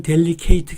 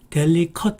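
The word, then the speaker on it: delicate: 델리케이트 라고 발음 하시는데 사실은 델리케이트 가 아니고 델리 컷 입니다 그 다음에 그 두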